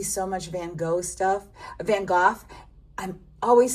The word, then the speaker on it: Van Gogh: Van Gogh. I'm always saying it wrong. I was brought up Van Gogh and I'm trying to say it the right